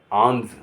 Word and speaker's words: alms: अब मैं बताऊंगा एल कहाँ साइलेंट होता है। ALMS आंज, आंज माने दान या भीख।